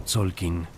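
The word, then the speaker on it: Tzolk'in: El calendario más fundamental era el Tolkin pronunciado Tsolkin, el calendario sagrado de 260 días.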